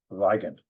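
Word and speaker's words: Weygandt: a man named Cornelius Wen or if you prefer the German pronunciation viant w y g- n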